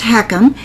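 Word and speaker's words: HECM: you and I talk what is a home equity conversion mortgage pronounced heckum it's also known as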